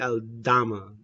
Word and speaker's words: Aldama: Kyle I understand uh is it omada um pronounce him his name wrong I feel like um I think it's Concha no not cut yeah I'll I'll dama Santi aldama that's what I'm talking about